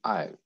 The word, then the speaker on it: aisle: Isle and aisle. Have you seen the same pronunciation of these two words?